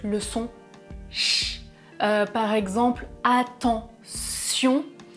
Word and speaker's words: attention: Par exemple, attention. Très souvent, mes étudiants anglophones prononcent attention avec le son ch. Attention, prononcez bien avec le son s.